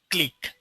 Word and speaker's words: clique: of nodes as a click okay the spelling is C qu and it is spelled as click okay so click is